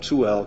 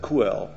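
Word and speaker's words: Čuhel: uh Czech colleagues that I learned how to pronounce the name of Chuel correctly. uh before when I first came across Chuel about was that 12 or 13 years ago I always said Kell sounded weird because coup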